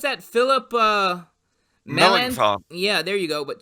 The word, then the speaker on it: Melanchthon: of the week is how do you pronounce that? Philip Melan. Melanchthon.